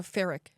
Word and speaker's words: Fairec: So would you say Fairec or Fairec?